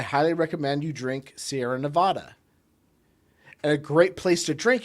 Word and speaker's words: Nevada: got their uh Nevada it's Nevada you spell you say it Nevada stop trying to sound stop trying to say it in Spanish it's not Spanish it's not even Spanglish no it's it's a